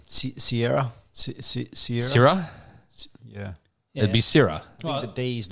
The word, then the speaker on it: Seiridh: No, it is pronounced sherry, but it's spelled very differently. I think you just dropped the D. Sierra? Syrah? Yeah. It'd be Syrah.